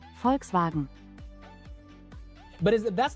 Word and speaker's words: Volkswagen: guys say it right Volkswagen sounds like she's saying folks wagen that's that's what it